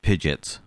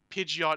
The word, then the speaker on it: Pidgeot: way i've heard uh people pronounce uh pidgeot and pidgets oh yeah again both aren't technically wrong in terms of the actual like seeing it and going that's how you say it but pidgeot is the way you